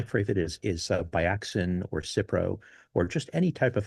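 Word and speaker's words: Cipro: And we also have I have some cypro. Is it cypro?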